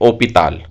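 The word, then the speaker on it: hôpital: हॉस्पिटल, इसे हम English में बोलते हैं, लेकिन फ्रेंच में हम इसे बोलते हैं ओपिताल। ओपिताल। यहाँ पे हम एच को साइलेंट कर देते हैं और उसके अगले लेटर से हम उस वर्ड को पढ़ते हैं।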